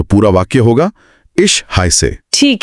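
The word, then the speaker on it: heiße: इश और हाय में जो एस अक्षर है उसे डबल एस की तरह बोला जाता है। तो ये बनेगा हाय से। हाय से। तो पूरा वाक्य होगा इश हाय से।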